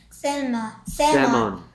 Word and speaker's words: salmon: L이 소리 안 나. 세먼. 세먼.